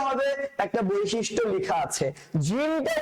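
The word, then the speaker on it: جيم: তাহলে জিম জিম উচ্চারণ করার সময় শক্ত করে উচ্চারণ করতে হবে, বাতাসটা বের হবে না।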